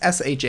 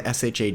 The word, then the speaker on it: Shawn: so I'm not angry about it like it's s ha a w n for those who are curious